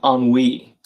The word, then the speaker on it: ennui: And RC, Floss, and Amy Gal, and Efon are all saying ennui. Does rhyme with spree.